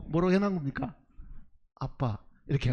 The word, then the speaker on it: 아빠: 발음대로 뭐로 해놓은 겁니까 아빠 이렇게 한 거예요 공교롭게 우리말의 아빠라는 말이나 아람의 아빠가 똑같은 발음인 거예요 지금 그래서 아바 그